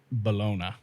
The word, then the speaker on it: Bologna: okay so this says italians pronounce it bologna bologna bologna bologna bologna bologna you should put a little extra in it yeah belong